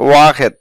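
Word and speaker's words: واحد: কথা বলার সময় বলে থাকে ওয়াহেদ আর সঠিক উচ্চারণ হচ্ছে ওয়াহেদ এক ইতনি দুই তালাতা তিন আরবা চার খামসা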